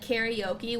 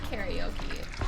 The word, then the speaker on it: karaoke: And also, isn't it weird that we say it like karaoke when there's no E in it? And it's just not how it's pronounced authentically, but we just say it like that.